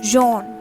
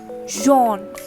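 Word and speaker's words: jaune: all right what is yellow called in french john john j a u n e all right so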